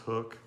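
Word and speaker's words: HUK: This is just it's H-U-K, and it's pronounced hook.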